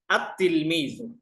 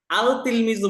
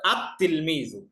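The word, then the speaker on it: التلميذ: আলিফ লাম আসে তাহলে আমরা লামটা উচ্চারণ করতে পারবো না দেখেন উদাহরণ তিলমিজুন এই যে তা তিলমিজুন তিলমিজুনের শুরু যদি আমরা আলিফ লাম যুক্ত করি তাহলে আমাদের কি পড়তে হবে দেখেন আত তিলমিজুন আল তিলমিজু বলতে পারবো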